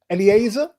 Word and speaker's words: Eliezer: And we've both been looking at this a new book out just this month by Eliezer. Is that, am I pronouncing that right?